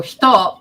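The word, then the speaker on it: ひと: So hito, because it's coming so far back, it ends up sounding like shoe.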